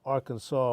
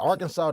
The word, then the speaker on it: Arkansas: But Arkansas, the S is silent.